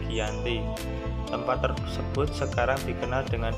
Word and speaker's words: Giyanti: yakni di desa jati dalam pelafalan Belanda ia Hai sebagai giante tentang sejarah tertulis yang terbaca sebagai Giyanti tempat tersebut sekarang dikenal